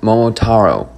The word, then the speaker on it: Momotaro: Warning, I believe the brand is pronounced Momotaro, but a few times I slipped up and said Momotero.